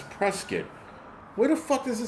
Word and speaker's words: Prescott: Fortit not and it's pronounced forkit river. These people like it's like Prescuit Arizona. It's not Prescott. It's Prescuit.